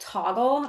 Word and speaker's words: Toggl: I also used a system called Toggle. I think it's spelled Toggl, Okay.